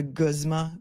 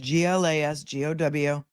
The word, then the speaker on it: Glasgow: Did he just make up a new term, or is there something called a Guzma coma score? It's GLASGOW. Spelled how it's pronounced, unlike most towns in Massachusetts.